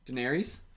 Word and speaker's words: Daenerys: just makes it makes the most sense to me that Jon Snow and Daenerys are Daenerys. How do you say her name? Daenerys.